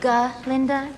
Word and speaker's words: Galinda: Oh, actually, it's Galinda with a G. Linda.